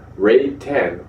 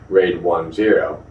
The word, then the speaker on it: RAID 10: drives raid five volumes RAID 10 also called a raid 1+0 and pronounce raid 1 Z not raid 10 is a combination of